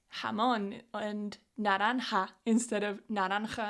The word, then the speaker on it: jamón: So, when I was first learning Spanish, I really struggled with this "ha" sound as in "jamón". And it's a sound that doesn't exist in English.